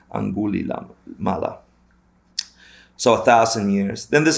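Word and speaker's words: Angulimala: Anguli Lama, I said it wrong. Anguli Mala.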